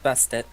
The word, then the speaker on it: Bastet: Also, how do you pronounce your name? Because I don't want to keep saying Bastet. What's that? It's Bastet.